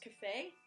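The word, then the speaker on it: Kafei: If I remember right, it's pronounced Cafe.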